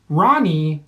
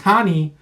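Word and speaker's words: Rani: is coming in against Ronnie yah yah does not want to be pronounced honey he goes with an R so yog on here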